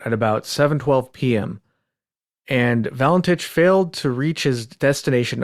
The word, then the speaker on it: Valentich: And her name was spelled exactly like this, and she pronounced it Valentich.